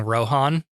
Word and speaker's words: Rojan: J's are often pronounced with, except in the English language. Right. They're pronounced with an H or Y, like German and French and Spanish.